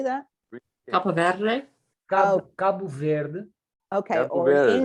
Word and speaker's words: Cabo Verde: Cabo Verde.